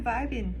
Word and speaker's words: vibing: i'll be like i'm vibing i'm surviving i can't say it normally though yeah first of all get rid of the g i know it's spelled but we say vibin i'm fine i'm vibing